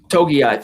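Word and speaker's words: Togiai: All right, I'm gonna take Moses and Togai, if that's how you pronounce his name. I always botch some of these more. Togai, thank you.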